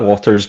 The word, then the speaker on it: Watters: Okay, so everything you can find on Instagram, which is at Waters, but it's spelled W.ATTERS.